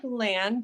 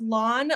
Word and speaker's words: Lan: so your last name lawn or land which one is it well it looks like land but it's pronounced lawn like Mulan okay fine that helps